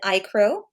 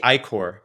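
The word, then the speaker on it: iCore: talked about AI lately you presented icro am I pronouncing it correctly uh it's actually i-core i-core okay thank you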